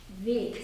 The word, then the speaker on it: Weg: Weg, spelled W-E-G. There's another word in German spelled exactly the same way. W-E-G also means away. Geh weg. It's pronounced with an open E and very K sound.